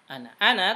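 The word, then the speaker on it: أنا: Ana tulisannya panjang, ada alifnya ana, tapi dibacanya pendek. Ana.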